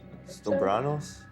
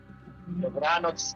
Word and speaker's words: dobranoc: Stobranos? Dobranoc, good night.